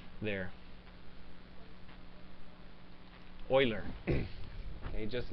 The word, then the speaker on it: Euler: is may be pronounced euler but it's not because he's a swiss guy okay and eu right is pronounced oy there euler okay just like uh